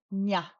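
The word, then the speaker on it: ཉ: And then Goldilocks is nya, nya.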